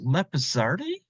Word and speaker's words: Lapisardi: you have um so your last name is pronounced leardi yes wow that actually sounds